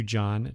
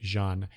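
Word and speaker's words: J'onn: turn i said john i said john it should be jean that's the the that's the pronunciation of his his first name that i prefer um from the justice league animated series but i know a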